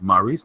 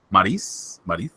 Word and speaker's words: Maryse: And ever since they put him together with his wife, Maryse, how do you say her name? Is it Maryse? Maryse? No, Maryse. Maryse. Maryse. Oh, she is French.